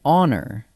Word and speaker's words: honor: An honor, same thing.